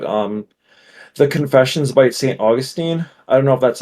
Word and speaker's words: Augustine: August I don't cares Augustine Augustine thank you yeah I used to say Austine and then uh I